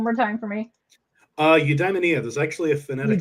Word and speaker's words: Eudaimonia: Can you pronounce that one more time for me? Uh, Udamaia.